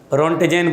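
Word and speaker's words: Röntgen: रोंटेजेन बोलते हैं, T silent है, ठीक है बेटा।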